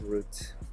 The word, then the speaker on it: route: route i guess yeah i think the proper pronunciation for this is root in english they pronounce it two different ways depending on how you're using it but i believe root is the correct one in this case in any case believe